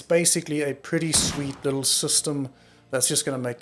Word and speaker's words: Systeme: Anyway, so this is where Systeme comes in. It's pronounced system, yep, just system.